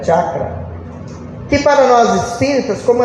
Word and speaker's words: chakra: orientais é chamado de chakra, ou a sua pronúncia correta é chakra, que para nós espíritas, como André Luiz apresentou-nos nas suas obras, são chamados de centros de força.